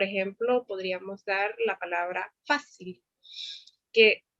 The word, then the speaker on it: fácil: Como por ejemplo podríamos dar la palabra fácil, que su pronunciación más fuerte está en la A, ¿verdad?